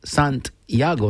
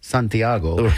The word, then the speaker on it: Santiago: And it's pronounced Santiago, not Santiago.